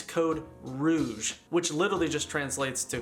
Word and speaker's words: Code Rouge: in the comments was it is not code rogue the canadian code red it's code rouge which literally just translates